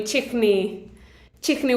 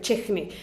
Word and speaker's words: Quechua: So the Q in Quechua is pronounced like ha, like a ha. So then for the chichni, it would be chichni, which means hate.